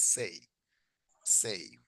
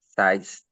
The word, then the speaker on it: says: Okay, what is the pronunciation? Size. No, Says. says. That's Excellent. Says. Suena como si fuera una E. O sea, ya no digo el número 6.